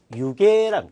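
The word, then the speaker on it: 湯気: 일단 여러분들이 기본적으로 알아야 할 글자 김이나다 할 때 김을 유계랑 유계 아시겠죠? 그래서 이 기자를 개라고 읽을 수 있는 N1 명사 N1의 어휘는 유계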